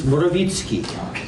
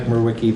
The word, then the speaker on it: Morawicki: In Polish, it's Morawicki. Most of the people here know me as Mike Morwicki, though.